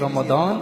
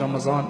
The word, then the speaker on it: Ramadan: The real word in Urdu is Ramazan and the word in Arabic is Ramadan.